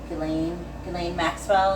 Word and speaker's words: Ghislaine Maxwell: Ghislaine Maxwell.